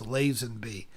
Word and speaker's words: Lazenby: robbing the stooges blind also i keep saying lassen b they're bitching at me to say it's lazenby i i've never pronounced it like that ever you're correct i don't